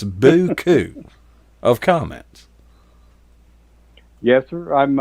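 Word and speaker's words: beaucoup: used to call buku which is spelled kind of i can't spell it but i can pronounce it it's boo coo of comments yes sir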